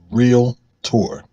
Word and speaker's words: Realtor: but one pronunciation that's real tour that's two syllables industry professionals pronounce it